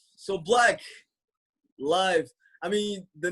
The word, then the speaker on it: 6lack: It doesn't change the fact that my name has been Black. It's been Black since like middle school, elementary school, really. And I had all the mispronunciations figured out before everybody else had them figured out. When nobody knew who I was, I already knew Six Black, Six Black, Slack, all of that.